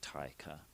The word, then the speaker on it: Taika: Add an A between the T and the I in tiger. So it's like Taika. And then Waititi is like Waikiki, the Hawaiian beach.